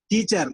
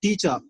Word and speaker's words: teacher: Mostly the people pronounce this word teacher. Like here, this is not teacher. This is the teacher. Here R is silent.